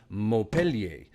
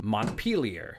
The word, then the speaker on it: Montpelier: contain a pronunciation guide for all I knew Vermont's Capital was spoken precisely like the French city after which it was named morpellier it was only after addressing yet more YouTube comments that I discovered locals opt instead for Montpelier a city whose French